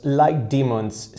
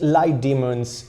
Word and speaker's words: Litemons: demons six series now this is how the lights are called light demons I think that's how you pronounce it light demons cuz the logo actually has a couple of horns on top of the O so it reminds me